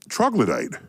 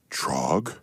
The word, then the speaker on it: troglodyte: So then I remembered the word troglodyte.